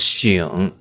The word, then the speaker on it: 省: And another pronunciation, the second pronunciation is 醒. Alright, here. 醒. Also the third tone.